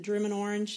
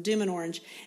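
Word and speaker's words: Dümmen Orange: of it right now is it drumman orange is that right d orange I said it wrong D and orange and then there's another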